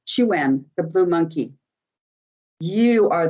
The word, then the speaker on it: Chuen: Chuen is actually how it's pronounced in Mayan. Chuen, the blue monkey.